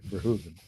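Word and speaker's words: Verhoeven: And yes, that is how you say it, by the way. Verhuven.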